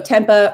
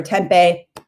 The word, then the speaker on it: tempeh: for a fermented soy so tempuh or tempeh always get people who tell me i say it wrong so i'm just going to say it both ways that's actually a fermented